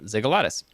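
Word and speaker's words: Xygalatas: this is by Demetrius ziggalatis I did look up how to pronounce this one x y g a l a t s uh zigolitis uh how seemingly senseless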